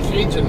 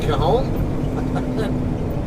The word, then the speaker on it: Cajon: They all had a tendency to call the mountain pass that's right by my house the Cajun Pass. That's another one. I laugh every time, but Cajun? You mean Cajon?